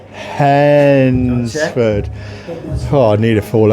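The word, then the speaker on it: Hednesford: Even our fans was coming on the radio and telling me how to say Hensford. That's right. You got it right. Hensford.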